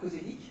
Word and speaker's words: Koszelyk: parce que mon nom est assez difficile à prononcer et donc alors pas quand on le sait coséic voilà mais au départ c'est voilà il m'